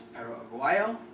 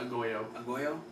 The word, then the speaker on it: Perro Aguayo: pronunciation on his name it's perro auo not ago a I I apologize but